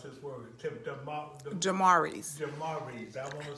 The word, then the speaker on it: Daemarii's: Daemarii's. Daemarii. I want to say it right. Okay. Say it again for me. Daemarii's.